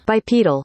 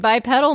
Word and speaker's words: bipedal: it for us uh bipedal oh my God my life has changed I've been saying bip pedal my whole life well folks di what